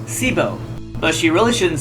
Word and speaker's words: Sybo: And her name is pronounced Sibo, but she really shouldn't say that on public TV.